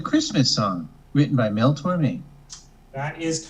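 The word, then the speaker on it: Tormé: helps with the answer there is an accent on the E of Tor oh yeah this is a one of my favorite most beautiful songs it's the Christmas song written by Mel Tor me that is correct how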